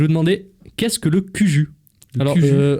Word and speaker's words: Cuju: Et d'ailleurs, en parlant de choses rétro, je vais vous demander qu'est-ce que le Cuju. Alors, à tout moment, ça se prononce Coujou.